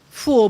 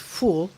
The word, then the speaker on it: foul: whole it's known as full it's pronounced fool but it's spelled f-o-u-l like foul as in a sports foul but it's pronounced full but it is often